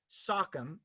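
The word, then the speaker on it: Sachem: been noted this evening sockum as it would have been pronounced by the tribes that historically lived in this region tonight speaking both as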